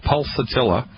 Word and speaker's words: Pulsatilla: It's called Pulsatilla. You spell that P like Peter, U-L like Larry, S like Sam, A, T like Thomas, I-L-L-A.